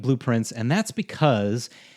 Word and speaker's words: Blue Prince: storm, and it's called Blueprints. And let's just get it out of the way. Yes, I know it sounds like the word blueprints, as in the design schematic for something, because that is on purpose.